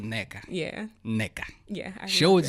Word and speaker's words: Nneka: And they pronounce it as Nneka. So I answer to all of the above. I'm gonna go with Nneka.